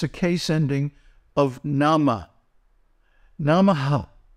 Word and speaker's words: namaḥ: Namaha. Right? Now, the visarga is pronounced when it is at the end of a line.